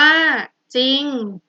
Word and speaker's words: จริง: เดียว เท่า นั้น คือ คำ ว่า จริง จริง ๆ อ่าน ว่า จริง ขอ ให้ ชนะ ต้น